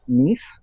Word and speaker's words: Kneese: It's by Tamara Neese, and her last name is spelled Kneese.